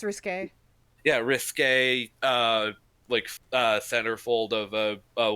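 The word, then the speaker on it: risqué: Is that how you pronounce it? Yeah, it's risque.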